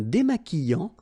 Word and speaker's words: démaquillant: So we've got this QU, but then U is not pronounced. So you get the sound qui. Okay, and then remember, double L after E will give you the sound y. Démaquillant. Final T not pronounced. Démaquillant. Okay, and this is nasal in your nose.